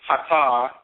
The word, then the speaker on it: Ptah: Now, we can pronounce it Ptah because in Akan the word for twins is Ata. Same term from Kemet, same term in the Akan language.